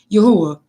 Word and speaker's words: Jehovah: Not only that, he says, therefore, when a person from the 16th, 17th, or 18th century saw the word Jehovah, they sounded as they would Yahuwah. If a person saw Jehovah and pronounced it as Yahuwah, in other words, he's